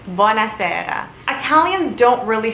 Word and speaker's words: buona sera: I said good evening buona sera again it is one word but it is sort of two words put into one buona sera buona is good Sara is evening buona sera Italians don't really say